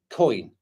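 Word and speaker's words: Köln: Sunra says it's pronounced similar to coin with a hard K. Coin.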